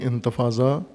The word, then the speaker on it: انتفاضہ: تحریک ہے، ایک مزاحمتی، عربی زبان میں انتفاضہ ضاد کے ساتھ، انتفاضہ جیسے انگلش کی سپیلنگ کی وجہ سے انتفاضہ کہتے ہیں، دال کے ساتھ لکھتے ہیں، ضاد کے ساتھ ہے.